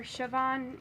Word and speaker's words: Siobhan: name is like it's since it's IR well it's Gaelic and it's spelled way differently than you would have think yeah don't even try to spell it but so I just tell people to call me because that's way easier so you can either call me or sioban it doesn't really matter